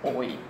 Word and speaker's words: hoy: Okay, H is always silent. Remember, H, hindi natin pronounce, but in spelling it, we still have to put letter H. Like for example, the word hoy is pronounced as hoy.